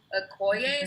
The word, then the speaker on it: Okoye: Okay, so yes, my favorite character actually ended up being, Okoye, is that how you pronounce her name?